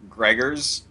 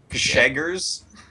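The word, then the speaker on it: Grzegorz: Gregors? Gregors. It's like if the RZ was SH. That will be easier to... Gsheggers?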